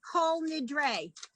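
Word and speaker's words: Kol Nidre: the ooh in front this particular combination is always always always always always long o whole whole okay that's how you get cole nidre ah okay okay so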